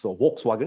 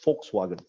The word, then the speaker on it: Volkswagen: So sometimes probably the car Volkswagen, where it's not really pronounced as Volkswagen, it's pronounced as Volkswagen. So the letter V is always pronounced as F, just to share.